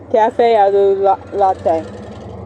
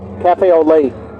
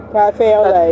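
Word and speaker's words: café au lait: Cafe aloo latte. Cafe Olay. Cafe Olay. That's French for coffee and milk, baby.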